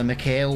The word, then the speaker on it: McHale: So, and we have the McHale one. It doesn't sound right when I say it fast, McHale. I know I'm saying it right, but it just sounds wrong.